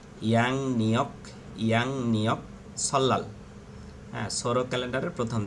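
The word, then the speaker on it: 양력: থালিয়ক মানে হচ্ছে calendar, young এর পরে যদি রিয়ল আসে, রিয়লের উচ্চারণ হবে ইয়াং নিয়ক সল্লাল।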